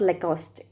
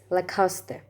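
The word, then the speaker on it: Lacoste: brand it's a famous clothing brand it's not le coste it's la coste la costa it's not pronounced as la coste or tea but it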